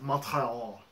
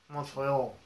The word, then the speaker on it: Montreal: And that and it's pronounced Montreal. Montreal. Yeah, that's like French.